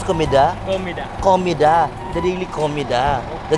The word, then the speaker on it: Comida: Paano yung pronounce? Comida? Comida.